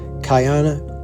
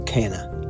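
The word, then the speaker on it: Caana: Cayana or Cana, I've heard it pronounced both ways, but this Sky Palace stands at 141 foot high.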